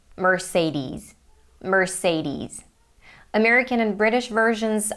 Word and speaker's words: Mercedes: pronunciations down below in the description so that you can hear the pronunciations of these car brands for yourself so in the US they say Mercedes Mercedes American and British